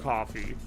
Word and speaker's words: Kofi: Kofi, which is apparently just pronounced coffee, is uh a good one though.